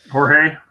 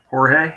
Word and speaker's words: Jorge: I'm gonna say his name wrong. What is it like? Georgie something. That Jorge. Gamebred. Yeah, sorry. Yeah. Jorge.